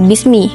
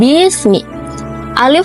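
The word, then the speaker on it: باسم: fathah bukan kasr tapi di surah alalqh Bismi itu kasrahnya itu berpasangan dengan alif dan dibacanya tetap Bismi bukan Bismi Alif seolah tidak ada di sana kalau bukan karena kehendak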